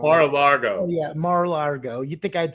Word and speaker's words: Mar-a-Lago: rate uh margot i always say it wrong mar-a-lago yeah mar-a-lago you think i'd say it right